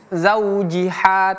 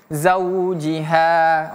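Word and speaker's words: زَوْجِهَا: Ha ini ha besar ya bukan ha kecil. Jadi tidak boleh kita baca zaujiha tapi zaujiha.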